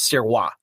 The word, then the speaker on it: Sirois: the last name is Sirois. That's the French Canadian way of saying it. So, and I'm not used to hearing that at all. I'm used to hearing Sirois. I'm Sirois.